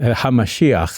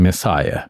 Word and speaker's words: hamashiach: one in Hebrew and from that we get the angiz pronunciation Messiah because us English-speaking people we can't say words like hamashia right it's too much of a strange so Messiah we smooth it off um now H the